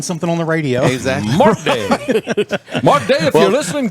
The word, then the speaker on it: Mark Day: to say my name, I always say, "This is Mark Day." because if I don't I say this Mark Day and they go Martin Day Martin who and I see no it's Mark Mr.